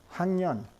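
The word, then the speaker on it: 학년: Now notice that we have to write it hak with the keough, which is the K sound, the kr sound. But we pronounce it hangyan, hangyan.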